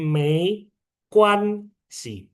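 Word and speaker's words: 没关系: Yang bawahnya G dibaca K, jadi Mei Kuan Si, Mei Kuan Si.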